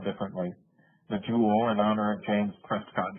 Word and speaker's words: joule: the joule capital j o u l e pronounced like the gem but spelled differently the jewel in honor of james prescott jewel as you